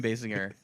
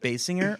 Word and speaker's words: Basinger: Is it Basinger or Basinger? I don't Basinger. know. I think I've always said Basinger. I think early in her career, it was Basinger. People said that. But then everyone started pronouncing it wrong, and so now it's just what it is.